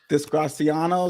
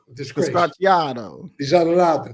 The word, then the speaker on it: disgraziato: I hear a lot of Italian guys when they say something, they'll say disgraziano. Is that how you say it? Disgraziato.